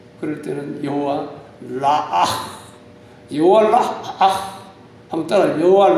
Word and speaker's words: 여호와 라아: 그럴 때는 여호와 라아, 여호와 라아, 한번 따라요. 여호와 라아, 라아. 네, 발음이 좀 그렇습니다.